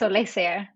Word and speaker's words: Olesija: butchered it so bad it's alexa so we are pretty close okay i was kind